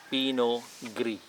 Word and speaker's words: Pinot Gris: the pinot grigio called pinot gris g-r-i-s so you don't need to pronounce the letter s gree as g-r-i so